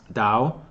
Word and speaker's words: Tao: of the Dao okay or spell tal tal but pronounce Dow or Taoism okay so